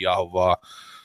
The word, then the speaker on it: Yahweh: and when I say Yahweh a lot of people don't know God's real name God's God has a name and his name is Yahweh or Y some people pronounce it yahovah he once once you